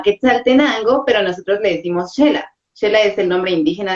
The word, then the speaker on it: Xela: que se llama Quetzaltenango, pero nosotros le decimos Xela. Xela es el nombre indígena de la ciudad y algunos pues que ya nos ¿Cómo? están viendo, Chela. Xela, Xela, Chela. Xela, sí, es con X, pero nosotros lo pronunciamos como Xela.